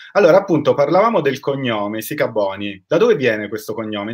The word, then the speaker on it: Sikabonyi: Si pronuncia Sicaboni, giusto? Sì, bravissimo, perfetto. Non hai Esatto, avuto paura del mio cognome, bravo. so che in Grazie. passato hai avuto molte problematiche legate al cognome perché c'era chi lo pronunciava Sicaboni, c'era chi lo Sì. pronunciava Sicabongi, Esatto, insomma.